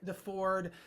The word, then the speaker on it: Deford: my good friend Deford. And how do you remember how to pronounce his last name? It's not the Chevy, it's the Ford, you know, it's like that's how you remember.